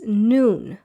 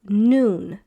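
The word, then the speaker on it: נוּן: Many people pronounce this as nun at the end here but it's not none it's noon. So Joshua the son of noon.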